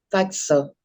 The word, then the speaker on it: pazzo: Y es porque la pizza normalmente se pronuncia y toda la doble Z como algo así. Fíjense como yo se los escribí. Sí. Pizza. Lo mismo pasa con pazzo, que significa loco, o pezzo, que significa trozo o pedazo o porción.